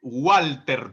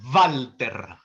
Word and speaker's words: Walter: En alemán no se dice, por ende, Walter, por ejemplo, sino Walter. No se dice Ludwig, sino Ludwig, ¿no?